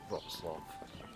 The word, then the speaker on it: Wrocław: Spelt Wrocław, but I believe it's pronounced Wrocław.